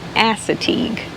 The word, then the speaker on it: Assateague: The way that we heard the pronunciation was Chincoteague and ASSATEAGUE.